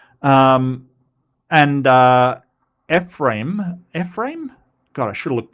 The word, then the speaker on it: Ephraim: Um, Ephraim. Yes, Ephraim. Okay, I mean, need to put a bit more oomph into the im. Ephraim. So he brought his two sons, Manasseh and Ephraim, to receive a blessing.